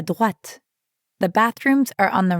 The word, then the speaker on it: droite: And make sure you're pronouncing the t sound at the end of droite.